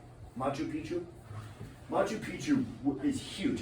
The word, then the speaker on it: Machu Picchu: it now on to the second one is Machu Picchu I think is how it's pronounced Machu Picchu Machu Picchu is huge it's so big that